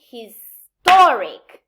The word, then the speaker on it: historic: preceding preceding the suffix for example i say history the stress is in his but i say historic so by adding ink the the stress pattern of the root changes and it the main stress moves to the syllable presenting the suffix and there's a third